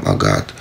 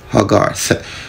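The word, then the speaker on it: Hoggarth: It was Haggart. H-O-G-G-A-R-T-H. Haggart. You know? But it was mispronounced in our Jamaican Patois vernacular. You know? To sound like Willie Haggart. Yeah, man, Willie Haggart, the man run and roses, brother.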